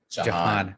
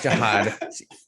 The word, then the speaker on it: Jahan: Just like one that you all heard throughout the year was Jahan Dotson, how much Steven ended up talking about. Jahan Dotson. Not Jihad.